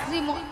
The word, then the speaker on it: শ্রী: আরে মাসি ওনার নাম ছিড়ি ছিড়ি নয় বলো শ্রী শ্রী শ্রী সিরি হ্যাঁ সিঁড়ি সিরি যেন সারে